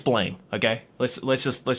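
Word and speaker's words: ブラム: It's properly pronounced Buramu, but I mean, it's Blame, okay?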